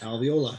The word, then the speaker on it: alveoli: alveoli. Yep. Alveolus. The alveolus. How do you or pronounce alveoli.